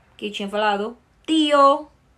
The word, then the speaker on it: tío: Mas se escreve com T, de tio, né? Só que em espanhol, nós vamos falar sempre tate, ti, toto, ok?